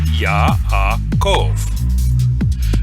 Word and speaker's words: Yaakov: The name Yaakov is Yaakov. Note here that the Yod is at the beginning of a syllable and is a consonant, and the Wa is in the middle of a syllable and is therefore a vowel.